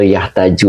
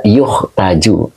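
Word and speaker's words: يُحتاج: Nah begitu ya makanya dibaca Abdul Hamid yukhtaju atau yahtaju Ustaz dibaca yukhtaju Oke jadi ini bacanya yukhtaju Ya jadi majhul ya jadi di pakainya ee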